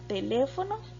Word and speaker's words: teléfono: y por último está la palabra teléfono tiene el acento en la sílaba que está en la antepenúltima posición y la tinto porque